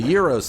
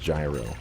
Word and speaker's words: gyro: We just got done watching a video explaining that it's pronounced gyro.